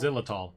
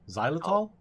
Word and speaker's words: xylitol: Xylitol. Xylitol?